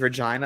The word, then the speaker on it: Regina: way that he says Regina because that's the reason that's how you say it it's Regina you know if